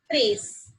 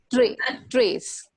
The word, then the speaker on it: tres: No, basically there is no sound of t in Spanish. We have to pronounce it like t, like for the t. Okay. Tara, like t. Okay. Okay. Yeah. So we can use the t pronunciation.